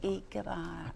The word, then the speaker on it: Ikebana: - Ichiyo, in Japanese I's are pronounced like E's. So that's why Ikebana is eek-a-bana.